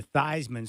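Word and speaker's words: Theismann: at Notre Dame with Joe thean who changed his name to thyman so it would rhyme with Heisman yes that all started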